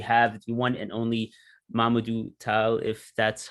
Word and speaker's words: Momodou Taal: We have the one and only Momodou Taal, if that's how you pronounce it. Let me know if I'm wrong. That's correct. That's correct. That's correct. Momodou Taal.